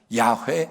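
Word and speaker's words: 야훼: 식 하나님의 이름인 거예요 야외 또는 여호와 둘다 틀린건 아닌데 발음상 야외 가도 맞지 않을까 그래서 언제 사람들이 여호와를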